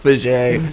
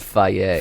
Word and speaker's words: Fage: It's actually pronounced Faye. Faye. I know, they it's put it in odd- the commercial. Yeah, because, it sounds a little bit like a derogatory word. Yeah, it sounds like faggy.